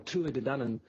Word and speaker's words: Tuatha De Danann: So the Tuatha De Danann, or Tua De Danann, is the proper Gaelic Irish pronunciation, became known as the Dinashee, and Dinashee is Gaelic for people of the mounds.